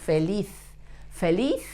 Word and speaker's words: feliz: Yo soy feliz. Feliz is happy in Spanish. The letter Z should be pronounced like a T and an H in English in front of a vowel, like in the word, for example, thank you.